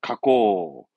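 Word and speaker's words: 加工: 발음은 가꼬, 가공은 가꼬처럼 음동은 전부 코로 갑니다.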